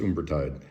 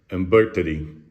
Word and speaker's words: Umbertide: Not pronounced Umbertide. Umbertide.